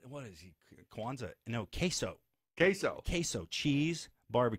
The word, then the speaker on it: queso: room great and your other child's name is quazo quazo what what is he Quanza no queso queso queso cheese Barbe Q Texas they all